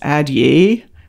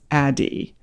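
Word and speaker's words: Addyi: t y i you'd think it would be pronounced ad ye but it's pronounced adi this is a once daily pill that you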